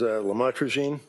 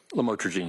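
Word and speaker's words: lamotrigine: lamel otherwise known as lamatroine. Did I pronounce that right? Lamotrogene. Yes.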